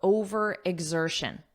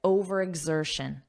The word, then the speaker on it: overexertion: Okay, first let's talk about overexertion. First, let's look at the pronunciation, because notice you have X, but that's not how it's pronounced.